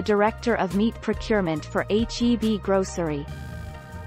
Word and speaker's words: HEB: howard e butt that's heb you pronounce the letters they stand for howard e butt which